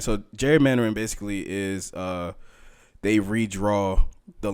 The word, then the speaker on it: gerrymandering: Oh, gerrymandering. Yes, that word. I want to pronounce the G like a G.